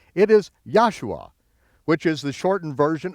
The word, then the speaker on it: Joshua: So anytime you see the letter J in your King James Version of the Bible, pronounce it as a Y, and you'll be very close.